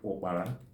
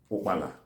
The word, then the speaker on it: opara: Grasshopper is called opara. And opara is spelled as O-A-R-A, opara. That's what the Igbo call grasshopper. Then opara, O-A-R-A, is the central Igbo name for grasshopper.